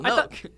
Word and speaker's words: Noke: Noke. I thought it's pretty simple. Noke.